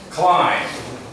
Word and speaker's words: climb: Climb. Remember the pronunciation, more like C-L-I-M-E than C-L-I-M-B, but it's spelled C-L-I-M-B.